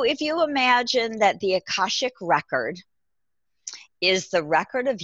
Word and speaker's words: Akashic: So I say Akashic. People pronounce it a little bit differently depending on where you're from.